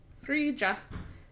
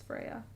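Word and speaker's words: Freja: So many people pronounce the J, Freya. Freya. Frija. That's what, when I met her the first time, I was like, Frija! Even though I knew it was Freya.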